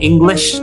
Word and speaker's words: English: Sama seperti ketika kita bilang English ya, I'm an English trainer. Nah, S-nya itu sh harus tebak. Jadi bukan I'm in English ya, itu salah ya.